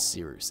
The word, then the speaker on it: Cyrus: Let me know in the comment section down below Anyway, my name is Cyrus. It’s spelled like “Cyrus,” pronounced like “See Rooster,” just take out the “ter” Thank you very much for watching, and have a wonderful day!